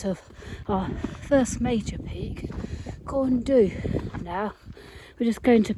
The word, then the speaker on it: Corn Du: That's the summit of, apparently it's pronounced Corn D.